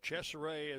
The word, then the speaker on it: DeCesare: DeCesare is what their right-hand batter pronunciation guide says.